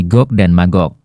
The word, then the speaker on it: Gog dan Magog: Dalam bahasa Ibrani, huruf Jim diucapkan dengan huruf G yang keras, sehingga menjadi Gog dan Magog.